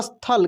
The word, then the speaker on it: स्थल: फिर लॉ है देखिए आधे अक्षर का उच्चारण पे डिपेंड करता है जिस भी अक्षर का उच्चारण काफी तेजी से होगा वो आधा होता है जैसे स्थल देखिए